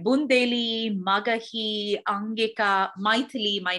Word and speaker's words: Maithili: Like Bundeli, Magahi, Angika, Maithili, my name is actually a language in India, but it's pronounced Maithili and not Maithili, because it's a North Indian pronunciation, and I'm from South India.